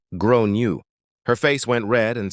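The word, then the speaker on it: Gráinne: She asked what I meant and I said, "Well, in Ireland, they typically pronounce it like grown you."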